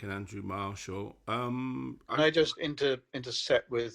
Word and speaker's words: Marshall: Pronounced Marshall.